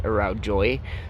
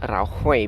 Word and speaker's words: araujoi: Notice I'm saying araujoi, but when you look at the word, it says it. Well, I mean, if you're English speaking, it sounds like it's saying araujoi. It's actually pronounced araujoi because the J is pronounced as an H.